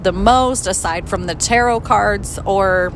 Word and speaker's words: tarot: most aside from the tarot cards or some people pronounce it taro so there's no right or wrong i've heard it both